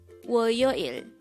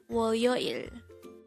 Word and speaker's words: 월요일: This is pronounced as a three-syllable. The first syllable is wo, second syllable is yo, and the third syllable is il. Pronounce it with me. WORYOIL. WORYOIL.